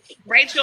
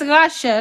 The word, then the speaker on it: Rashelle: Rachel, I'm playing your name wrong. It was Michelle. Rachel. It's Rashelle. Rashelle.